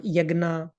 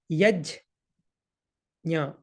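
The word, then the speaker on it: यज्ञ: yesterday, it is not yagna, it is not yagna, not like that. It's nya. So the actual pronunciation is yaj nya. Yaj nya. If you pronounce quickly, then it will be yajna, like that.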